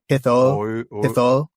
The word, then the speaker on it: Hithoel: Like I can do O and I at the same time, like oi, but Hithol.